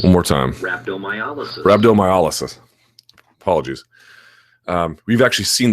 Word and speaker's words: rhabdomyolysis: And guys like Junior Dos Santos are getting rhabdomyolysis, rhabdo for short.